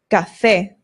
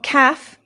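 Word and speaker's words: café: Cafe. This is coffee. Cafe, not calf. Cafe. No ga. The a makes an a sound. Cafe.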